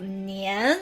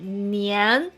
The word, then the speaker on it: 年: So always raise your tongue and start 年 with a clear N.